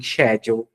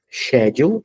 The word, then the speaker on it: schedule: que pode ser também shedule então é interessante esse verbo tem duas leituras né duas pronúncias Schedule ou senão Schedule agora ele tá marcado